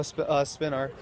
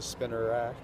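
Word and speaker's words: Spinarak: Oh, spin arc. We'll just hop over here and try to get this spin arc. Actually, looks like I've been pronouncing it wrong. It looks like it's actually spinner rack.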